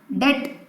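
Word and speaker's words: debt: डेट, बी is silent, तो डेट trap मतलब कर्ज के जाल में फंस गए, राइट?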